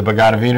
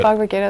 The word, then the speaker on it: Bhagavad Gita: religion that depends on the Quran or the Bhagavad Gita or right? Yeah, stuff. The Vedas, Upanishads. Yeah, I said it wrong. Yeah, that's fine. Bhagavad Gita.